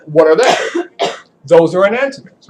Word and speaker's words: enantiomer: How do you say that word? Enantiomer. It is. I don't really pronounce it. It's like stoichiometry. I always just say stoichiometry, enantiomer. That's how you actually have to say it.